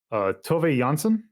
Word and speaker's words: Tove Jansson: Yeah, so just also to mention, the author of these books was named Tove Jansson, I believe is how you would pronounce it.